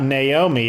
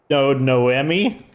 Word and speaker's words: Noemi: So her name is not Naomi, it's Noemi.